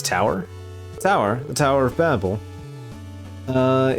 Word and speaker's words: Babel: This tower tower the tower of Babel. Uh it's in it's needed to get up to the point. I think it's ba I think it's actually like properly pronounced Babel actually.